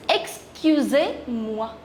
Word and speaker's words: excusez-moi: But there is a difference in the pronunciation. This is excusez-moi. Excusez-moi. And this is excuse-moi. Excuse-moi. Excusez-moi, formal, and excuse-moi, informal, right?